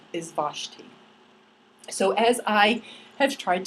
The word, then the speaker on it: Vashti: guess that's what Hebrews like thanks anyway he pronounced her name is Vashti so as I had tried to study in